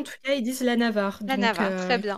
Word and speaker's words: Navarre: Moi je dis les Navarrais, Navarrais. c'est Nava- très bien, C'est hein. c'est vrai que Navarre, Oui, ça fait... français de Navarre, quoi.